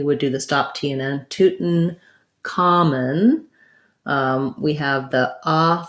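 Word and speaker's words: Tutankhamun: the uh schwa vowel if we do say tootin common we say it like this uh toot with a stop t so uh um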